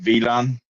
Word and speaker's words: WLAN: would now in German it's called WLAN, WLAN, wide Yeah. local area network. That's how we call it. We don't say Wi-Fi, we say WLAN. Ah. Like W is V.